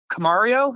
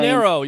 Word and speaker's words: Caminero: So you were talking about Camario. I can't ever pronounce his name. Caminero, yes, Junior Caminero.